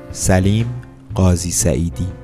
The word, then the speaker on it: Salim Ghazi Saeedi: So, here is how you pronounce the name correctly. Salim Ghazi Saeedi.